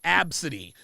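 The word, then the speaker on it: ABCDE: The girl's name was Absidy. The name was spelled A-B-C-D-E.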